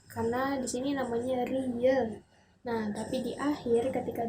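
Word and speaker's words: 리을: Itu karena sebenarnya memang fungsi dari huruf real ini di awal menjadi R dan di akhir menjadi L.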